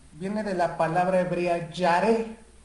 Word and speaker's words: yaré: La palabra temor viene de la palabra hebrea yaré. Se escribe Y, A de Alfonso, R de Ramón, E de Ernesto, que significa temer o reverenciar.